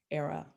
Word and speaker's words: Airea: say it with me era rhymes with sarah sarah from the latin